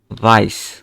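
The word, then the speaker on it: weiß: তারপরে ডাব্লিউকে আমরা আ জার্মান ল্যাঙ্গুয়েজে কিভাবে উচ্চারণ করি? এই যে আমরা যদি ফার্স্ট ক্লাসে চলে যাই, এই যে ডাব্লিউকে ভে দ্বারা উচ্চারণ করি, ভে। তাহলে এটা কি হবে? ভাইস। কারণ অ্যাসেট মানে হচ্ছে যে ডাবল এস।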